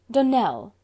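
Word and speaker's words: Donnell: would set it right Donell Accent on the last syllable and Sinclair on no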